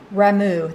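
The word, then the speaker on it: Ramuh: Ramu, that's how you say that name.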